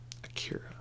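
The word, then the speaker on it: Akira: symphonic suite soundtrack to Ikeda or a cure if you'd like I prefer the Japanese pronunciation though so a 1988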